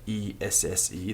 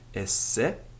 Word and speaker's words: esse: We're going to be looking at the entire form of the Latin verb, using one verb, esse, E-S-S-E, the verb to be, esse. Notice that I'm pronouncing each S separately.